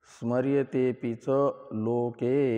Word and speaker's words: स्मर्यतेऽपि च लोके: इस अभिप्राय से लिखते हैं इस अधिकरण का 8वां सूत्र, इसका उच्चारण कर लें। स्मर्यतेऽपि च लोके, स्मर्यतेऽपि च लोके, स्मर्यते अपि च लोके, ऐसे 4 पद समझ लीजिए।